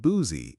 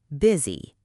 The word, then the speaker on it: busy: Busy is not boozy, it's biz i. Busy.